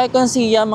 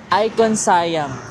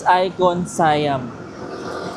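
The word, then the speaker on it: ICONSIAM: Like kung icon siam ang alam ko sorry mali pala icon sayam guys. Hindi pa icon siam. It's icon sayam.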